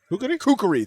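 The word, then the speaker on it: Kukri: of run into the Kuriki nonsense right here. Am I saying that right? Kukuri. Thank you.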